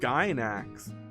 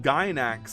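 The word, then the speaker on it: Gainax: Is it not pronounced gax? Gax. I've always heard it pronounced gyn ax. I guess if I think about it as a Japanese word, it would be gynax. It would be kind of like how you wrote it.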